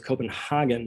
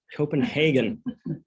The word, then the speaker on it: Copenhagen: I always thought it was Copenhagen until I heard him say it. Copenhagen. That's the way they pronounce it in Denmark.